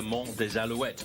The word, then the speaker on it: Mont des Alouettes: if you want to in French it's actually the Monte wet but let's have a